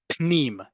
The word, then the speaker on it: pnim: Pnim. There's no vowel between the p and the n.